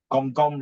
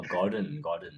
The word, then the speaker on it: Gordon: a master chef like Gong Ramsay, oh, the Gong Ramsay. Do you think I pronounce it correctly? Gong Ramsay. Oh, Gordon. Yeah, I Mr.